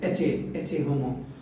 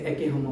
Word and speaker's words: Ecce Homo: You know, if you read the Ecce Homo, sometimes it says Ecce Homo, or you can say Ecce Homo, both are the correct pronunciation.